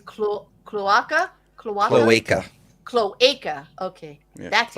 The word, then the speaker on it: cloaca: Cloaca?